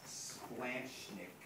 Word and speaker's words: splanchnic: ask you to pronounce it but it's actually pronounced splanchnick and and that's a really weird word and